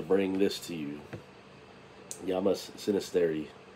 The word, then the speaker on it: Xynisteri: starts with an X it's not like xylophone so it's a sinisterity